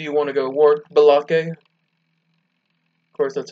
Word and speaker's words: Balake: So yes, Blake's name, I'll be trying to pronounce as Balake instead of Blake.